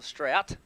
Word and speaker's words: Strout: uh live stream but it's going to be straight uh strowt or strout tristan strout number 31 much